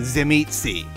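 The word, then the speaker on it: Tzimisce: guy that is the final boss is a Zim eetzi by the way I learned how to pronounce that right sorry guys already so the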